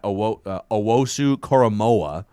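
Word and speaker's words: Owusu-Koramoah: the linebacker from notre dame uh my guy owosu koromoa is how you pronounce his last name dylan radens from is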